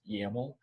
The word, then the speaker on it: YAML: compose is called dockercompose.yaml this dot yml extension is pronounced yaml if you say you're using a yml file people will look at you weird i wouldn't even recognize